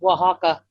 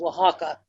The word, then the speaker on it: Oaxaca: Etta Maceo and Guaymas I believe your cheese would be pronounced Oaxaca it is a town and a region but it's spelled the way you were saying it your cheese's spelled it is Oaxaca anyway god bless you